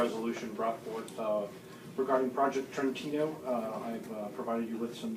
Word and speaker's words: Trentino: Did I pronounce that correctly? Trentino, yeah.